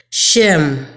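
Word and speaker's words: שֵׁם: The name in that verse comes from a Hebrew word pronounced Shem, and it means the mark or appellation of honor, authority, and character.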